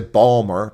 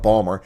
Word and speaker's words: Baltimore: They say Merlin, like Merlin, and they no one says no one says Baltimore. They say Balmer. B A WL. Balmer.